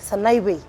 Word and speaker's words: Sanaipei: Or if you say it properly, inasemwa Sanaipei. Sanaipei. Ile P ni V.